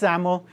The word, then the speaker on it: XAML: language and it's pronounced saml kind of sounds like you're pronouncing with a z um so ZL um